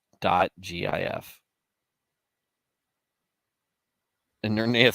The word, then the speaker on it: GIF: Twitter Todd fig backwards GIF it is the hard G it's a hard f